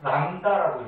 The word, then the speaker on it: 람다: 또한 같이 요렇게 써요 읽을 때만 람다라고 읽어줍니다 람다라고 읽는 거죠이 난다가 뭐냐면은 파장인데 에너지